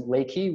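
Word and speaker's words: Leki: back of the head there's Leakey which is spelled le ki which is a great Swiss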